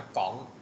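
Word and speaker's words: Comte: พุธ ซอง นะ ครับ เป็น ชาว ฝรั่งเศส นะ ครับ ก็ เลย อ่าน ว่า ก๋อง นะ ครับ เอ่อ เออ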